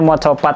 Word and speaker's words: Macapat: Macapat ini ya teman-teman tapi itu berarti pelafalannya Mocopat karena ya itu literally Mocopat gitu eh tembang dan ya